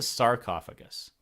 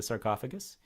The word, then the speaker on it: sarcophagus: your question what's a sarcophagus and why does it rhyme with esophagus well Sark's is the